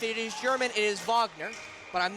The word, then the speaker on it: Wagner: take the leap that he's German so we're going to say Wagner CU I know fron and mo Vagner with the uh Orlando Magic and that's the way you're supposed to pronounce it if they are of German descent nice fake there by